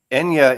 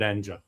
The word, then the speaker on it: Enja: Eddie I think Enya is the singer but the record I think label does pronounce it Enja I think doesn't it well he would probably know more than me Eddie but I'm calling it Enja yeah I think